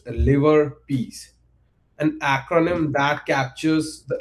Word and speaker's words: LIVERPS: These arc adhere to a set of strength ordering rule that we affectionately refers to as liverbs pronounced liver piece an acronym that captures